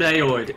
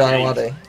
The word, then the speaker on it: Ayoade: Oh, is that how you pronounce it? Yeah, Ayoade. I always thought it was Ayoade. Nah, it's Ayoade. I don't know why. Yeah, no, to be fair, it's easy to mispronounce.